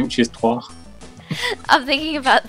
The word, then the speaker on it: trois: I think you're thinking about 3, which is trois.